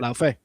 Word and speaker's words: Laufey: pronounce his name, but I'm excited. Lao Fei.